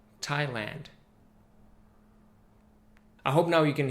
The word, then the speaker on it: Thailand: wasteland Overland Disneyland la-la-land and Thailand as far as I know the only country that has land in the end but actually pronounced with the tandem a sound Thailand I hope now you